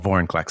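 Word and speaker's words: Vorinclex: say it like you just said it before vorn collects okay listen i i now accept the fact that this card is called voranklex in fact i think i've said it in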